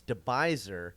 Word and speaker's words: De Bijlser: It's De Bijlser.